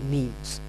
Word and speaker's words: meme: Richard Dawkins in 1976 if you pronounce it right you might find that the sound of the word resembles a bit with the word Gene and as a matter